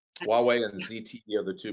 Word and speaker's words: Huawei: to get tough on huay which i just ruined the pronunciation forgive me yeah huawei so it's um huawei and zte are the